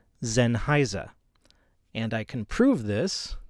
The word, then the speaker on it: Sennheiser: it sign Heiser or Sennheiser but both of those are wrong the proper German pronunciation is Zen Heiser and I can prove